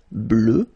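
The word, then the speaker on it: bleue: at the end okay phonetically it doesn't exist because you don't pronounce it so you get blue as you would get for the masculine form okay but still you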